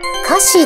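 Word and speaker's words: 瑕疵: 正解は瑕疵です。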